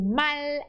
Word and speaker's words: mal: Sin demostrar sospecha, invitó a su mal amigo. Para por aí. Você. Invitó a su mal amigo. Isso, não pode dizer mal. Mal. L bem pronunciado.